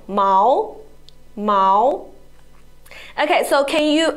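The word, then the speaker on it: 毛: the difference is Mal no it is the first tone Mao and Mao is the second tone Mao Mao okay so can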